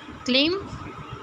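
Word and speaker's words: climb: क्लिम चढ़ना, क्लिम चढ़ना। बी को साइलेंट करेंगे हम।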